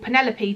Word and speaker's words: Penelope: for a friend called Penelope to check why it doesn't rhyme with Antelope it sounds very intriguing